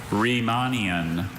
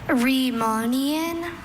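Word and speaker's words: Riemannian: And one of those pronunciations was more traditionally German than the other which may make her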